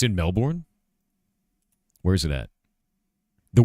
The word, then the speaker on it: Melbourne: In In English that' be Melbourne. B O U R N E is born.